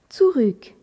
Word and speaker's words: zurück: ou et que le U avec umlaout se prononce u tsuruk écris ces deux phrases fra Michel hat probl